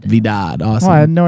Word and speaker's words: Vidad: Vidad. Vidad.